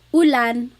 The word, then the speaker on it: ulan: So, ulan, u rain and chair. Ooh, ooh. Not like under or umbrella. The letter U in Tagalog has an ooh sound.